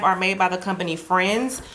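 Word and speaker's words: Frends: made by the company friends it's spelled f r n DS like friends without the I um yeah but I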